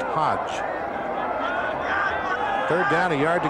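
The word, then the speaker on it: Hoge: Hodge spells his name H-O-G-E, but it's pronounced Hodge.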